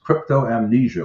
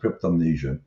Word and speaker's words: cryptomnesia: And it's also a phenomenon known as cryptoamnesia, or some pronounce it cryptomnesia, where you remember things, but you forget where you remember them from.